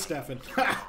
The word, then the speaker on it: Stefan: Oh, it is Stefan. We called him Steven the whole time.